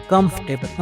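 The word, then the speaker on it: comfortable: इसको बिल्कुल गलत है क्योंकि इसमें जो आर है वो साइलेंट है इसलिए इसको कंफर्टेबल पढ़ना गलत है तो देखते हैं कि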